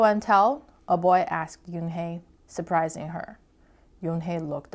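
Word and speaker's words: Unhei: it's spelled u n h e i it's pronounced Yoon hey oh it's you hey the boy said like you hey what about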